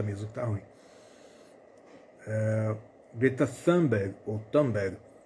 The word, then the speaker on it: Thunberg: Mas e por falar em ativistas, a ativista sueca Greta Thunberg, ou Thunberg, uma pronúncia mais brasileira aí, fez um vídeo pedindo ajuda após ser detida por Israel a caminho de Gaza.